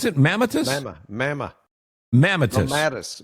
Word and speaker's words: mammatus: How do you pronounce it? Mammatus? Mamma. Mammatus. Mammatus.